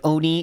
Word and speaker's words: oni: it's supposed to be Oni like Oni is the you're supposed to say it but a lot of people just make it an a sound I don't know why